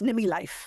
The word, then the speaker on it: Numi Life: Is that cor how you pronounce it? Yes. Nimi Life.